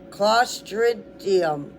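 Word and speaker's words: Clostridium: This illness is usually caused by improper canning which allows the bacteria claustridium. Claustridium. Tridium. Claustridium. See when you keep practicing you can get it. It's spelled C L O S T R I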